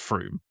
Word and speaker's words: Frome: But the the place near Bristol is called pronounced Frome.